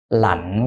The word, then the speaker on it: lạnh: Now it's heavy falling and you gave it a gradual falling tone. This should be heavy falling. Okay. Lạnh quá.